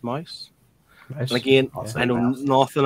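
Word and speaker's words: Maus: first ones um is Mouse wall as I pronounced mice and again I know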